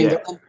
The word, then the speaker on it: Engelin: I cannot pronounce his England, last England, yeah. Engelin.